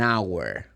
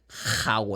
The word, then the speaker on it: hour: An hour. The H is in this word, but it's silent. You don't say how, I say hour.